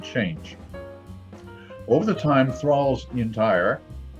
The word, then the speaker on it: Entire: It says that it's a strong porter called Thrale's Intire, Intire, pronounced Intire. Was brewed at Anchor Brewery in Southwark Parish, London, near the end of the 18th century.